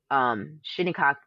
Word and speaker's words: Shinnecock: My uncle used to say, shinnecock, like think of your body, shit, your shin, your knee, then your cock.